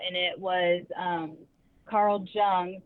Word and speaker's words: Jung: it was um Carl Jung some people pronounced it young I don't know I pronounce it Carl Jung um but he was